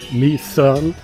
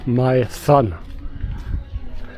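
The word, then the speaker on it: Mỹ Sơn: going to visit is named me sun hope to get the pronunciation halfway correct at least I'm almost sure that I get it better than some english- speaking people here who pronounce it as my son it is one of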